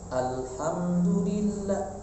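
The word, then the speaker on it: الحمد لله: Jadi alhamdulillah, tahan dulu alhamdulillah, seperti itu.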